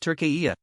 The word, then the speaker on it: Türkiye: t u r k e y e, and pronounced Tur-key-yay.